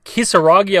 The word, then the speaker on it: Kisaragi: we're here to discuss yuffie kisaragi i believe is how you say her last name now she is an